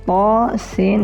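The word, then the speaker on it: طس: Cara membacanya Thaha, Thaha. Jadi 2 harakat saja. Selanjutnya itu huruf ta, sin dan mim.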